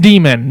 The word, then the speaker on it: daemon: It's just an old spelling of demon, and it's pronounced demon.